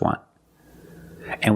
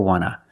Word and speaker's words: want to: So we don't pronounce the T and we say wanna, wanna. I just want to eat. Want to or want to, you can pronounce it wanta or wanna. Both pronunciations are correct.